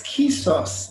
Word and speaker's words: Kesos: Hi, it's Kesos. It's just basically like key and sauce. So just imagine this kind of little sauce of keys or something. So that will give you the right pronunciation.